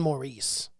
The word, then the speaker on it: Morris: And it was John Maurice. Yeah, and they kept saying it over and over again. But it's again. not even spelled like you would spell Maurice. No, it's Morris. It's spelled like some dipshit in the Old West didn't know how to spell his last name, and he threw John Morris on there.